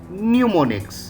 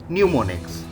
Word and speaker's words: mnemonics: addresses with symbols and mnemonics here m is silent okay so that what will be read as pneumonics so assembly language what